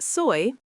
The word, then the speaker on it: soy: Yos soy pronounced soy means I am.